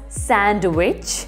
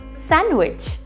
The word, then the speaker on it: sandwich: it without cheese and pronounce it without d we don't call it as sandwich it does not have